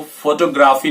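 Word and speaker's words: photography: इससे relate next word है, इसमें आपको फो पे जोर नहीं देना है, TOG पे देना है और इसको फोटोग्राफी नहीं बोलेंगे, फोटोग्राफी।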